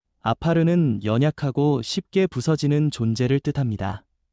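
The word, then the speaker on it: עָפָר: 먼저 여기서 흙이라는 말은 히브리어 발음으로 아파르입니다. 아파르는 연약하고 쉽게 부서지는 존재를 뜻합니다.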